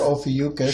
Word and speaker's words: Ophiuchus: 11:22 gate we have all fatuous as I like to say there was other pronunciations he or Ophiuchus sure as the gatekeeper